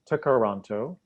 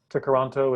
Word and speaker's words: Tkaronto: Toronto comes from the Mohawk word Tkaronto, which can be loosely translated as where the trees meet the water.